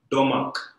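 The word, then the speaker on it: Domagk: He was a German physician and his name is Gerhard Domag, D-O-M-A-G-K, Domag, right? So G is silent, I reckon.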